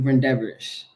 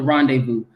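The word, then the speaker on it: rendezvous: Taco run in medicine City Oklahoma going to Reish uh rendevu I I keep pronouncing it wrong going to Rondevu um which is going to take place I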